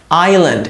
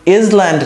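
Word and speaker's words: island: থাকলে দেখেন এভাবে করে শেষ হয় প্রায় ইঙ্ক আইল্যান্ড এখানে এস টা সাইলেন্ট এস টা উচ্চারণ হয় না তো দেখেন ইজল্যান্ড না কিন্তু আইল্যান্ড আইল্যান্ড মানে দ্বীপ আইল্যান্ড ইনসেক্ট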